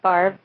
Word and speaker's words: Favre: There's, how there's Brett Favre, which is spelled Favre, which I love. Yeah. It's Favre.